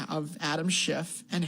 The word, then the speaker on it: Schiff: It rhymes with fit.